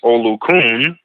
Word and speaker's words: Olukun: The Yoruba referred to them as Olukun, that's spelled O-L-U-K-U-N, as in Nancy.